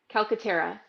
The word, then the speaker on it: Calcaterra: Calcaterra. Good. All right, good. All right. You had it right. It's Calcaterra.